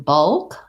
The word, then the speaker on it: bulk: hope um and then bulk all um again it's a schwa before a dark l that kind of has a schwa um bulk oh so